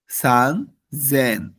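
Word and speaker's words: さんぜん: 2000 হচ্ছে নিসেন 3000 সান জেন দেখেন সেনের ক্ষেত্রে একটা ব্যতিক্রম পাচ্ছি আমরা সেটা কি সান জেন তারপর 4000 হচ্ছেন এর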